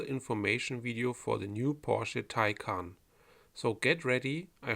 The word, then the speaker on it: Porsche: you how to pronounce Porsche and Taycan correctly, as if you are a German. It's Porsche, Porsche. Never say Porsche or Porsche. That is all wrong, please don't do that.